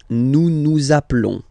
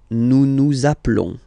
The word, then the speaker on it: nous appelons: Okay, nous appelons, and then little link would be perfect, so let's pronounce the whole thing again. Nous appelons. Nous appelons. Okay, final s doesn't exist.